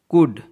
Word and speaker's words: could: कुड, COULD, कुड, इसमें भी एल और डी का कॉम्बिनेशन है जहां एल साइलेंट है.